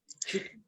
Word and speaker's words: Chute: Chute. Like a French name.